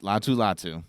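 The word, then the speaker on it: Laiatu Latu: name and last name correct that's how they pronounce it latu latu okay so the reason I have him going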